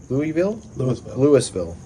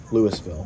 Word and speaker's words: Louisville: Louisville? Louisville. But it's spelled like Louisville.